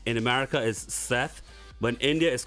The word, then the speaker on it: Seth: name i said last name sait i said say it sate no no it's seth first i have to